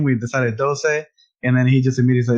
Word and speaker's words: Doce: And I want to say it's pronounced Doce, but I have no clue. How would you pronounce it? It's so funny. It's Doce.